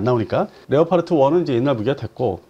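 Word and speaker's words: Leopard: 잠깐 좀 설명해 주시면 아 독일의 레오파르트 발음상 레오파르트 뭐 레오파르트 이렇게 하는데 형이 있고 2형이 있어요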